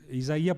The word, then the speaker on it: Isaías: Portanto, quando Vico, e isso disse muito bem Isaías Berlin, Isaías porque é a pronúncia correta, não é?